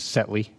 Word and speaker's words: Setley: So, I just um wanted to say uh the pronunciation of his last name is Setley, which is Setley.